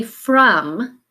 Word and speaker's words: from: go ahead and say from and the trick part here is your vowel sound again it is an a sound but we're gonna use the letter O to say from okay now we're gonna